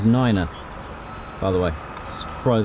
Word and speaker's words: niner: a I think there's three numbers that are pronounced differently so uh three is three five is five and nine is Niner by the way just